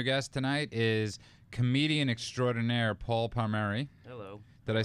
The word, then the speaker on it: Paul Palmeri: us our new guest tonight is comedian extraordinaire paul palmeri hello did i say it right yeah you